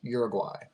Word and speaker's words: Uruguay: South Americans listening to this podcast uh it's pronounced Uruguay you're you're gu whatever I went to North